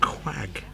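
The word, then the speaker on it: Quogue: It says it's pronounced Quag. So phonetically, Q-W-A-G.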